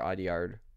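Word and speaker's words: Audiard: this is new zc aard film uh or aard is how you say his name um I mean you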